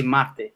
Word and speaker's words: mate: And then is machi or mach? Machi or mach? It's none of those. It's like between them. It's machi. Machi. Yeah, that's perfect. Machi. Mate. Well, the Spanish speaking will say mate.